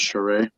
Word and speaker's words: Charest: of my favorite artists is Travis cheray or charest if you're trying to spell it out um he did Wildcats